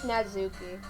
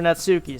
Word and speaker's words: Natsuki: Let's actually go with Natsuki. You keep saying Natsuki. It's Natsuki. Natsuki. There you I go. cannot pronounce her name.